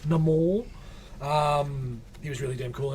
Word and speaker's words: Namor: MCU showed me how to say it right last year. Namor.